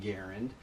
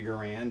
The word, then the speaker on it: Garand: its creator John garand and yes he did pronounce his name garand but everyone ended up calling the thing to garand and that is the name that it is